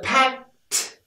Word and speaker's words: packed: Perfect pronunciation, packed my, but we've got this sound here, and that's a strong sound, and the packed, we use a stop T, packed, packed.